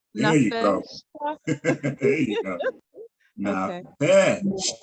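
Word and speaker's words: נַפְשְׁךָ: Oh, it is pronounced. Okay, so Nafshka Nafeshka. There you go. Nafeshka.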